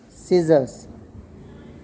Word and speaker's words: scissors: Science, when S and C both come together, then mostly C is silent. Science, ascend, and scissors. So in these three words, C is always silent.